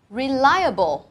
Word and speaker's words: reliable: Tiếp theo mình có từ reliable. Reliable, trọng âm và âm tiết này thứ hai, và đây cũng là